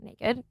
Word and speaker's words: NA-KD: It's NA-KD, so naked.